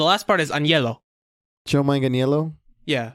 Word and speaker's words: Manganiello: like part of his last name is spelled like my middle name, so the last part is Agnello. Joe Manganiello? Yeah, it's Manganiello. Mangelino, but that's also the internet, so I wouldn't.